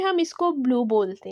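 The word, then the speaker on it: blu: Italian में ये ब्लू होता है, ब्लू मतलब हम अपनी आवाज़ को थोड़ा सा मोटा करके बोलते हैं, तो लेकिन इंग्लिश में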